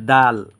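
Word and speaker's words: د: এই হরফটার নাম হচ্ছে দাল অর্থাৎ আপনার উচ্চারণের স্থান হচ্ছে জায়গা হচ্ছে জিহ্বার আগা আপনার জিহ্বার আগা সামনের দাঁতের দুই ঘোড়ায় ঘোড়ার সাথে সমন্বয়ে এই হরফটা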